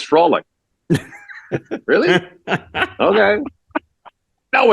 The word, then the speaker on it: Frolik: It's Frolic. Really? Bobby Holik. Wouldn't it be Frolik? No, it's Frolic.